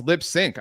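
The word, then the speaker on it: Lipps Inc.: Um Oh, it's LipSync. I didn't even know that that it was pronounced lipsync.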